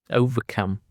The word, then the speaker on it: overcome: Overcome consists of three syllables and the stress is on the last syllable. Remember, overcome.